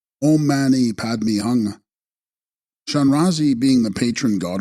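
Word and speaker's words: om mani padme hum: These are of the essence mantra of Shanrazi abalotesh being omi padmi whom pronounced ommani padmi hung.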